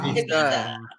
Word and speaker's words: Ibiza: Ibiza. Ibiza. Wow. It's the right way to say it.